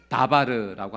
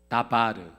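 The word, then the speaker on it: דָּבָר: 그것은 말씀이라고 하는 다바르라고 하는 단어예요. 그러니까 같은 어근을 쓰니까 발음이 비슷하죠. 미드바르, 다바르.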